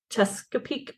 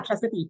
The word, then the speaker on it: Chesapeake: I was in Chesapeake Bay. I think that's how you say it. Yeah, Chesapeake.